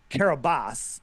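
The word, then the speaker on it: Kiribati: was registered in the nation of uh kabas but it's spelled kabati k a r k i r b a TI right and so have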